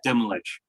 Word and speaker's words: Demilich: I'm not sure how he actually pronounced it. Oh, wait, I saw an interview. It is Demilich.